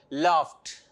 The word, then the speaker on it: laughed: Question number 2, laughed. Laughed. Here the sound is t sound, ta sound.